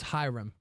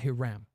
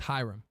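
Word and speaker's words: Hiram: forward Professor kyahan um two hyam flam it's pronounced as hym by the way all right you guys are always correcting me I'm going to correct you all it's not ham it's hyam Sero two quest for three I I like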